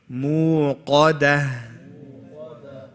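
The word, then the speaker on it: الموقدة: Muqadah. Qaf is heavy. Dal is light, and then the ha at the end. So this is how you say it.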